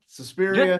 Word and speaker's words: Suspiria: Suspiria. Just try to imagine an Italian stereotype saying it. That's the right way to say it.